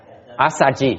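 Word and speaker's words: Assaji: Asaji. Yeah, that's about Asaji. I like the Pali better. It's easy to pronounce.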